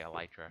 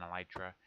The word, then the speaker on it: elytra: to get a pair of elytra or elytra, however. I think I'm going to say elytra. Everyone else seems to agree that that's how it's said. Um, I wanted to get a pair of elytra.